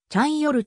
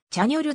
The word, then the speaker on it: チャンヨル: 使用している日本での活動の際はチャンヨルと標記語称されることが多いが韓国語での発音はチャニョルであるちなみにジャンよる